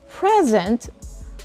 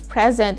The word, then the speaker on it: present: syllable and putting the stress on the second syllable there's a difference when you say present which could be a noun or an adjective